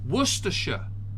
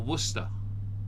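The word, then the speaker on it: Worcestershire: where your s sauce or however you say it werer or Worster that's how you say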